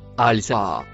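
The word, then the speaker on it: الساعة: Le mot marron se prononce al-saa.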